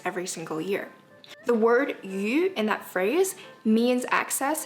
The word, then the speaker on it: 余: The word yu in that phrase means excess and extra in that context, but it has the same pronunciation as the word fish.